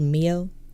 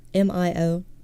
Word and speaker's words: Mio: Have y'all ever had this liquid energy called Mio? M-I-O. It's spelled like the K-On character.